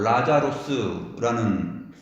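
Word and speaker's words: Λάζαρος: 나사로라는 이 말은 헬라어로 라자로스라는 단어인데, 라자로스는 구약 성경의 엘르아살의 축약형입니다. 엘르아살은 히브리 발음으로 하면 엘 아자르입니다. 엘 아자르에서 에 발음을 빼고 나서 보면은 라자르 이렇게 되죠. 라자르가 됩니다. 그래서 우리는 한글로서는 니은을 넣어가지고 나사로 이러는데 원래는 리을입니다. 라자로스예요.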